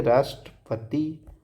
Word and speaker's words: राष्ट्रपिता: राष्ट्रपति के लिए राष्ट्रपति। राष्ट्रपिता के लिए राष्ट्र, प और त, यहाँ ट को हम लोग साइलेंट कर देते हैं।